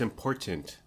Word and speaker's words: important: beefs conversation beefs is people who don't pronounce the T in certain certain words certain like certain okay so important no it's important continent there's seven of